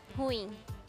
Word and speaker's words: ruim: Essa é uma palavra oxítona. A gente tem que separar o U do I. E ela, a última sílaba que é tônica.